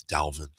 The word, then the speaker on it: Dalvin: Florida State guy I have to say it's Dalvin okay everyone's pronouncing adult it's Delvin okay okay well he should pronounce the way